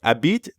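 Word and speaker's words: habite: m'appelle by the way Abid technically starts with an H but since the French H is silent we treat it like a vowel a bit that's right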